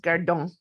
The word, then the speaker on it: gardant: And yeah, but it's pronounced gardon. Okay. Okay. No T in the pronunciation.